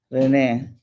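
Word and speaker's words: René: Rene capos um and in Spanish Renee with the accent on this first e the apostrophe Accent on the first e um is the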